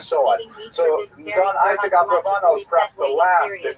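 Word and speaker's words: Abravanel: should mention by the way many people pronounce the same name Barbaranel and that's because of the it's much easier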